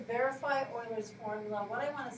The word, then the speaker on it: Euler: And it looks like Euler, but because of the country and how they say things, Euler is actually how you pronounce his name.